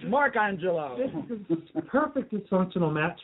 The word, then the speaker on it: Mark Angelo: testosterone creates character named bucking they got my name wrong it's markangelo this is perfect dysfunctional match for loopez after